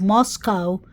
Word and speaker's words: Moscow: Idaho College Town of Moscow pronounced not like the Russian Capital but to to r